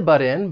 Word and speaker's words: butt in: could co-host the party something I want to say about the pronunciation of this phrase and this is more related to the American accent because I am from the U.S and that is that t sound in but that double consonant T because it comes